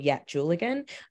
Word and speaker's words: Yatdjulligan: But I think it's really important that it's called Yat Julligan. Sorry, there's someone in the chat asking what it's called. It's called Yat Julligan.